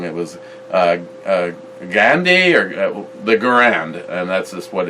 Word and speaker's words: Garand: be totally honest I have fired an m1 grande or however I mean I guess I was told everybody pronounces his name wrong it was Gandhi or the garand and that's just what it's kind of stuck